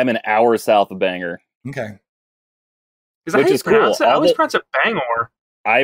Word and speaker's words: Bangor: an hour south of Bangor okay I pronounce the Bangor as well but everyone around me has a main accent and they pronounce it Banger freaking oh Bengal Maine